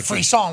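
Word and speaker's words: frisson: Yeah, so you need to fucking lock it in up there with your free song. Free song, pronounced free son, is a French word adopted into English meaning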